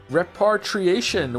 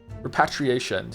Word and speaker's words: repatriation: the professor case is repartriation was organized uh immediately I know this word from uh from um from death stranding right how do you say it again repatriation cuz it's patriot repatriation patriot yeah there